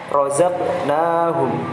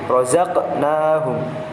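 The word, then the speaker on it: رزقناهم: sukun pada tengah kalimat, maka cara membacanya itu memantul, namun kecil sekali. Kecil saja memantulnya. Seperti contohnya razaqnahum, razaqnahum, razaqnahum.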